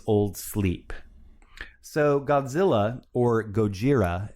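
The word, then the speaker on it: ゴジラ: sleep so godzilla or gojira as it would be pronounced in japanese uh is a fictional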